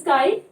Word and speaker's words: chi: This X represent here KII, that is chi, and it represent electronegativity.